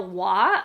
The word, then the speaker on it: Roy: tin flute by Gabriel W although it's spelled Roy r o y but I've been told it's w she is a French